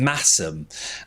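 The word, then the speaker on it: Masham: of Blueface Leester and Massum. Uh, and Massum is that breed that's spelled like Mashem.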